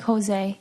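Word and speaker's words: José: people that don't know the J in Spanish is pronounced like H so like Jose Jose gonna whole you know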